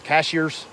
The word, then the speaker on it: Cashiers: But I think we're going to probably head back towards Brevard, and from Brevard we'll go down towards Cashiers, or how they say it up here in the mountains, Cashiers, and then Highlands, and then Sky Valley.